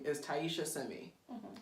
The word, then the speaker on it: Taisha: Because her name is spelled Taisha. Taisha. But if you're not paying attention, the I, you skip it.